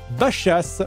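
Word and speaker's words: Baixas: pub pour la ville de Bachas qui s'écrit bexas dans le sud je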